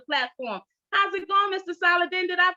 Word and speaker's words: Saladin: and to the platform how's it going mr solid then did i pronounce that name properly uh yes you did